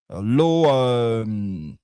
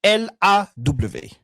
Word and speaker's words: law: Ici, c'est L-A-W. Donc, c'est la loi ou le droit, n'est-ce pas? La prononciation, c'est law. On ne dira pas low comme faible. On dira law.